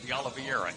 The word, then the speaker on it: De Oliveira: De Oliveira is how you pronounce it.